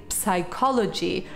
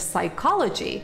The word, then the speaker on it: psychology: ancient and modern greek i've so often heard greek speakers say psychology instead of psychology because it comes from the greek word psychologia and in greek you pronounce the c sound but it's completely wrong in english pro tip for you